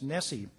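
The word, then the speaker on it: NSSE: survey of student engagement which whose acronym is pronounced Nessie the significance for Nessie to the University of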